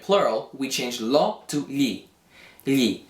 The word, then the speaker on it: gli: we change lo to gli. Gli. How do you pronounce this GLI? Well, the G is basically silent, and you're kind of saying li. However, you're not just saying li like that.